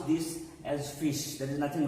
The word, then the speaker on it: ghoti: you if we if here g h is pronounced as phi i is always pronounced as e and then ti is pronounced as sha in some other words so g gothic and very well this dhoti can very well be pronounced as fish the way you pronounce